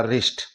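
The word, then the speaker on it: wrist: आर आई एस टी यहां आर से पहले डब्लू है डब्लू का साइलेंट करने के बाद में आर आई एस टी यह हो गया रिस्ट साथियों इस तरीके से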